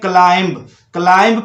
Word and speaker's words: climb: जैसा कि आप देख रहे हैं कि B silent when M plus B. अच्छा, किसी भी वर्ड्स में M आता है और उसके साथ बी आ जाता है तो उस समय बी साइलेंट हो जाता है क्या?